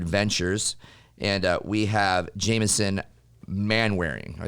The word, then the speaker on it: Manwaring: And we have Jamison Manwaring. Did I say that right? You said it right. It's like, what is that man wearing?